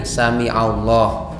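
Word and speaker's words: sami'allah: catatan yang saya biar ini ya samiallah pakai Ain samiallah samiallahu liman hamidah sebisa mungkin itu diucapkan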